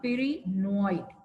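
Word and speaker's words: pyrenoid: which is present paranoid how do we pronounce it per p y r e peroid peroid is present inside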